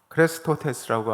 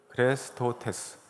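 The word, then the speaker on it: χρηστότης: 오늘 여러분들이 보신 갈라디아서 5장 22절에 나와 있는 이 자비라고 하는 단어는 헬라어로 크레스토테스라고 합니다. 같이 한번 읽어볼까요? 시작. 크레스토테스.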